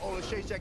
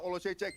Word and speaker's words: Oleksiejczuk: Michal Oleksiejczuk. It took me like a week to try to pronounce that name, but I now. finally got it. Michal Oleksiejczuk, very accurate puncher.